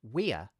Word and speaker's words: we're: The phrase we're has 2 syllables, with an e vowel in the first syllable and a schwa in the second syllable. By contrast, the contraction we're has 1 syllable and uses the diphthong ear.